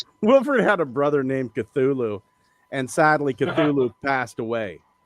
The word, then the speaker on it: Cthulhu: No, the C is silent. Cthulhu.